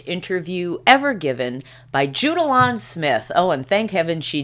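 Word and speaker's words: Smyth: ever given by judalon Smith and as uh Dominic Dunn pointed out in yesterday's article it is Smith not SMI even though it's spelled with a Y whom Diane Sawyer interviewed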